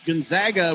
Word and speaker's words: Gonzaga: the nice entertainment uh you pronounce gonzaga with an a not an ah that's why we call ourselves the zags i'm confused i i